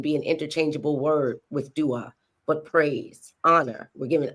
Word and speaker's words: Dwa: So that it would be pronounced like er. And then dua, praise or adoration.